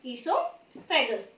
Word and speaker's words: इसोफेगस: हम कह सकते हैं इसोफेगस। ओ साइलेंट होता है इसमें।